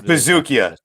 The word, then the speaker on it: Buzukja: I'm going to go ahead and say that J is silent, so that's why I'm rolling with Bazooka here. Or maybe it could be Buzukja. Maybe it could be Buzukja. That's what it is. It's Buzukja.